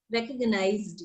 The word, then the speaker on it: recognized: Recognized, yes, z, recognized. So it can be used as s also or z also, but pronunciation is with z. Recognized.